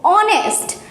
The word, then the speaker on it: honest: Same here, H is silent and the pronunciation started from the O, honest.